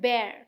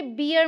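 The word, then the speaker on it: bear: English में बोलते हैं बेयर क्या बोलते हैं बेर देखिए बियर मत बोलिएगा क्या है बेयर और बेयर के बेबी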